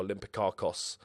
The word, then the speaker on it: Olympiacos: win the league with Olympiakos or Olympic caucus if you're gonna say it correctly so yeah or if